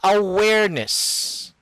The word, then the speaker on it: awareness: no no no no not nis it's like this it's like i'm to write it i'm going to write it all where awareness and then ness aware cut ness yes very good oh